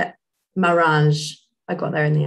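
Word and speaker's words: Maranges: Marange.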